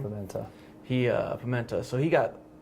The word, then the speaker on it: Pimienta: Cordell Pimienta, is that how you pronounce his name? Pimenta.